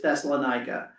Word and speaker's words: Thessalonica: And how you pronounce it in Greek is Thessaloniki. And as I was listening to it, it was Thessalonica. Thessalonica is how it was saying it, which is Thessalonica with the syllables were in different places, was all. And so the English version usually is Thessalonica.